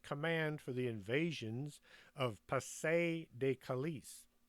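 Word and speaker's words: Pas-de-Calais: for the invasions of pase De kalis is it kalei Pasay de Calais I think that's how it's pronounced the real location of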